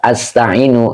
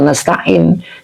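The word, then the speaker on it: نستعين: Tidak dengan bentuk mufrad. Tidak begini. Iyyaka a'budu wa iyyaka asta'inu. Nah, tidak begini. Ya, kenapa gitu? Kenapa kita bacanya iyyaka na'budu wa iyyaka nasta'in?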